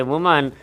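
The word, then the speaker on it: woman: रही थी the world वुमन इसका उच्चारण होता है ध्यान रखेंगे वुमन और इसी में जब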